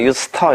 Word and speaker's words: used to: 발음은 그래서 합쳐서 발음합니다. 유스터 이렇게. 유스터.